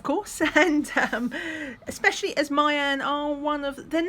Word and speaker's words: Meian: from a store called i'd like to say it's pronounced mayan on aliexpress i did